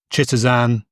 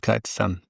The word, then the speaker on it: chitosan: So have a look at Kitisan. Kitan is spelled C H I T O S A N. Not some people call it call it Chitteran. I've heard it called shitzan but it's called kactan.